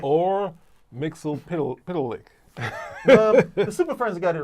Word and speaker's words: Mxyzptlk: That's right, you guessed it, Mxyzptlk. It was Mxyzptlk. Or Mxyzptlk. The Super Friends got it right. That pronunciation just sounds best.